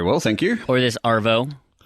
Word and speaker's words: arvo: In the Arvo, buddy. Is it Avo, A-V-O, or is there an R in there? There's an R, Arvo. Like, if you're going to spell it, you'd do A-R-V-O.